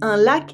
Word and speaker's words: lacs: Un lac is a lake with water. Des lacs are lakes, but des la with a silent C are traps made with nets and nooses.